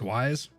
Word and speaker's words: Weiss: silverash sent wis okay is it whis or this there's a vice or uh with oh my god how do you say it vice or weiss since why super similarly has some kind of insurance policy but that's not nearly enough it's wise okay i've heard twice i've